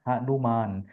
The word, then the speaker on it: हनुमान: उच्चारण भी वही है, हनुमान।